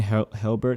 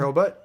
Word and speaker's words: Hurlbut: I 'Cause think I'm pretty Shane Helbert had. Did I say his name right? His last Shane name? Hurlbutt.